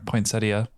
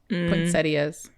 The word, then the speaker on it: poinsettia: ah there we are poinsettia poetas or whatever I say poetas I don't know why I don't pronounce that I yeah cuz you pronounce